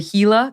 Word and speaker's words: Gila: now the latest is I think it's pronounced hila The Gila the tour of the Gila out in New Mexico